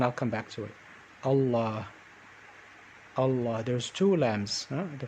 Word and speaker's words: الله: we'll connect it so when i say allah the first sound is ah so i'm gonna let